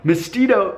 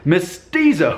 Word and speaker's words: mestizo: Mexico and countries south of the border are misty doe mestizo which I just mispronounced mestizo who is a person whose parents are one